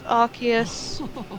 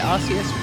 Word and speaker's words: Arceus: it arceus ah i i think our chaos is the most logical because it's arc as in like archangel and then deus as in deity and or you know